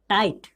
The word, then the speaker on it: tight: का टाइट, यानी कि इसमें भी GH का उच्चारण नहीं हो रहा है, सीधा टी का उच्चारण हो रहा है। टाइट, TIGHT, टाइट, क्या बोलेंगे